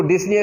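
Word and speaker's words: dyspnea: अब सांस लेने का जो अमल है दैट इज डिफिकल्ट और पेनफुल, तो डिस्निया, इसमें पी साइलेंट है, तो डिस्निया का लफ्ज यहां पे यूज होगा।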